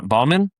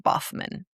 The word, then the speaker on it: Baughman: Boffman. Baughman. Yes, Does Boffman. an F sound? Yes. Okay. Yes. It's I'm spelled like Bowman, but it's pronounced Boffman.